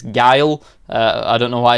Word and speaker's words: Guile: Turns out it's not Guu, it's Guile.